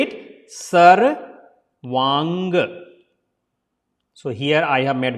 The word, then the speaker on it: Sarvanga: Sarvaanga.